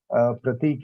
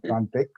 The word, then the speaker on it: Prantik: First of all, it's not for the first time that Dr. Vijay or any introducer has mispronounced my word. Okay. It's all right, because I suppose Pratik is a more common name than Prantik.